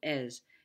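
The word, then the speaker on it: עז: first one is es it's got kind of a short e sound es and it means a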